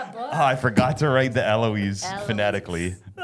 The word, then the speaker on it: Eloise: And um so you're the owner of Ali and Aloy. Eloise. Like Eloise at the Plaza. Remember that book? I forgot to write the Eloise fanatically.